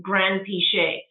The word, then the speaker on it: Granpeesheh: So when I grew up in England, we just started with Granpeesheh, and that's how you pronounce it, Granpeesheh, and like no emphasis on any part of it.